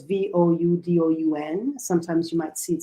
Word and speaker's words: Vodun: The word Vodou, Vodou, is a version of the spelling of the Fon word Vodun. So it's Voudoun.